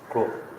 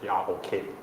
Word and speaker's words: Grok: That one, the name is Grok, G-R-O-K. G-R-O-K. Yeah. Group I think it's pronounced Grok.